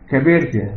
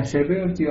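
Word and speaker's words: Chabertia: انتستين، خدنا الشابيرتيا اوبينا، شابيرتيا خلي بالك في ناس تنطقها كبيرتيا، فاكر كبيرتيا هتتغطى في البلد، لا دي اسمها شابيرتيا اوبينا، وخدنا القص بجستوما وكولامبينم،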